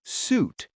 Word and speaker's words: suit: Suit, like a business suit, has a clear S sound at the end. Suite, like a hotel suite, or in this case, a suitcase, has a soft S sound that almost sounds like a gentle T sound.